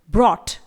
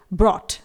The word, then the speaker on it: brought: यहां पर हम GH को प्रोनाउंस नहीं करेंगे लेकिन T का प्रोनाउंस होगा। इसी तरह से next word ब्रॉट, BROUGHT, इट इज ब्रॉट।